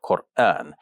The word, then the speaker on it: Qur'an: And by the way, the word Quran, like we say it with a specific type of sharp turn in the middle of the word, Quran, which grammarians refer to as a glottal stop.